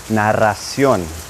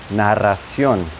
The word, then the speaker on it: narración: But when you pronounce it in Spanish, that double R is going to have a R sound, R.